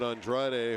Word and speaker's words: Andrade: They're pronouncing it Andrade. So it's Andrade and Reyes.